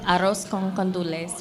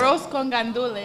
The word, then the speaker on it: arroz con gandules: and arroz con condules was delicious. Did I say that right? Say it one more time. Make sure people Arroz. got it. Arroz con gandules.